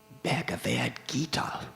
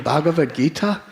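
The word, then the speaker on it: Bhagavad Gita: He said, "When I pulled it out, it was a bag of gita." Bag of gem. I said, I said, "You mean Bavad Gita?" He said, "Is that how you say it?" I said, "Yeah."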